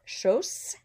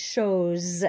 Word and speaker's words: chose: Par exemple, chose. We have an O and an E around the S, so it's not chose. It's chose with a Z sound.